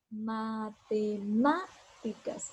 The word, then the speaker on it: matemáticas: La palabra matemática, digo matemáticas, entonces aquí en esta ma es donde yo elevo la voz y por tanto está el acento.